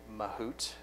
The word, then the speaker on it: Mahout: The granddaddy of machine learning platforms is Apache Mahout, or Mahout. Again, I guess there's a little bit of debate on how to pronounce that.